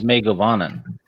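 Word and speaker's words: Mae govannen: It's Megavanen.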